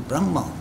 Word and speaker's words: Brahman: Atman is the English where they pronounce it, a Brahman, where they pronounce it, they put an N at the end of it, is Brahma.